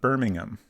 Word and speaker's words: Birmingham: British pronunciations of the same town names EG Birmingham is how I I would say that uh birming birming I I can say it right in my head but when I try to say it out loud Birmingham that's what I was trying to say Birmingham